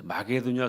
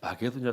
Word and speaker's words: 마게도냐: 지금 영어 발음은 이제 마세도니아라고 하는데 혹시 그런 표현이 나오면 여기가 성경에 나오는 바로 거기구나.